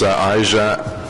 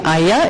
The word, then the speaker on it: Aija: It's actually Aya. It rhymes with Haya. Good morning, Mr. Mayor, committee members. My name is Aya Auzina, and I am the Complete Streets Organizer for Ecology Ottawa.